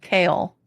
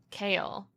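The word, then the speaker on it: Chaol: it was which one it's like chaos but instead of an S it's an L kale kale I hate it well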